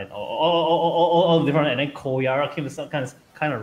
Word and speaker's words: Koyara: You do know that not a lot of people can pronounce R, right? So you see, yeah, exactly. Koyala, Koyala.